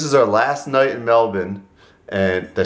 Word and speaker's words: Melbourne: Well, this is our last night in Melbourne.